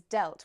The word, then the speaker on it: dealt: economy it damaged it notice here how the past form of of deal is delt which has a different pronunciation so we're going from The Sound e to the sound e yes we have deal and delt okay let's look at